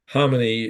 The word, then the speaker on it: Khamenei: Now, the Ayatollah Khomeini, Ayatollah Khamenei, my understanding is a K and his name is silent. Khamenei is 86 years old.